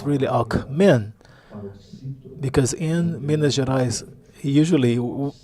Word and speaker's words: Alckmin: You have to place the emphasis on the last syllable if you're serious about winning the elections.